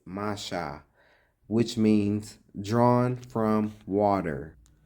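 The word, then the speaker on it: משה: The name Moses, pronounced in ancient Hebrew, is Masha, which means drawn from water.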